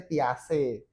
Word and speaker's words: Piaget: Nah, Piase itu adalah salah satu tokoh psikologi sebenarnya namanya Piaget. Bacanya Piase.